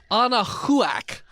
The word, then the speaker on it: Anahuac: Not too far from Lake Anahuac. Oh, Sure, that's how you pronounce that.